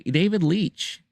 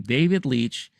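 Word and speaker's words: David Leitch: that Universe uh da David Leech I believe that's how you pronounce his name David Leech who is currently directing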